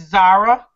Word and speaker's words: Zara: you thank you um am I pronouncing your name right it's Zara Zara haa yes you are okay okay cool because